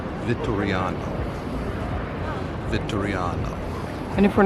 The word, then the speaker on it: Vittoriano: Flags at the Victoria have nothing to do with flags. You're right, they don't. So, I've been saying it wrong for the last few minutes. It's the Vittoriano.